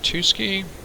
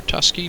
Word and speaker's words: Tuskegee: And here we are at Tuskegee, or Tusky, depending which way you want to pronounce it.